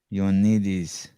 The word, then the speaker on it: Ioannidis: So I mean, I don't know how he pronounces it, but the Greek in me makes it look like it's Ioannidis. Ioannidis.